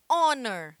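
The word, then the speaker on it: honor: que na língua inglesa só existem quatro palavrinhas em que o h é mudo Ou seja que o h tem som de vogal é que significa herdeiro Hauer que é hora que é o exemplo que eu passei para vocês anteriormente honer que é honra e honesto que significa honesto então honest Man um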